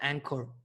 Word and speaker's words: Anchor: aplicación de ancor anchor así se llama anchor que se pronuncia en core esta aplicación tiene su